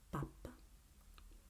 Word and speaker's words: pappa: Pappa, papa, pappa, papa.